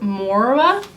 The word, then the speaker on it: Moira: I think you pronounce it Moira. If you know how to pronounce it, let me know in the comment section below, but it's spelled M-O-I-R-A. They were very kind enough